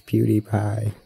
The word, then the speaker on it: PewDiePie: there's beauty but really his name not pewdiepie pewdiepie right right right not it's pew die pie everyone's been saying it wrong for years geez read people dude